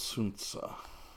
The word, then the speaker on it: Sun Tzu: cannot will be victorious Sun Tzu as you would pronounce it that has my friends of China China would say since it now good old soon saw so it looks like